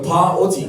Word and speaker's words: pa'oti: In Tahiti, we call it the pa'oti. Can you say that? Pa'oti. Say it like a real warrior.